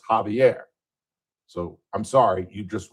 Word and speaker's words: Javier: His name is and I think they mean Xavier here, not Javier, but it is Javier.